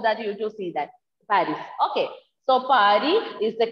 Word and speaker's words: Paris: First one is Paris. Repeat all of you. Paris. No, Paris is Paris, yes, but pronunciation is Paris. S will be silent.